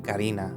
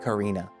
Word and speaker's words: Karina: I don't know why I pronounce Spanish names, or why I'm pronouncing her name like in English. Like, instead of saying Karina, I'm saying Karina.